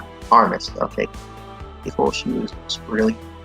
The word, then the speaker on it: Armas: I think it's just Armas. Armas, okay.